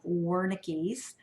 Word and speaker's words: Wernicke: these two guys here one has this is pronounced um wernicke's wernicke's and then broca so this guy has